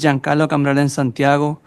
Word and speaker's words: Giancarlo Cambrellan Santiago: Giancarlo Cambrellan Santiago, DC Justice Lab. And am I pronouncing your name correctly? Yeah, it's fine.